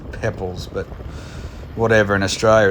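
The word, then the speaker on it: Poeppel: which incidentally i've been corrected on apparently it's pronounced pebbles but whatever in australia it's spelt popel so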